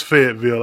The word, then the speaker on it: Fayetteville: And quick question: was Karen pronouncing your school right? Is that Fayetteville or? It's Fayetteville.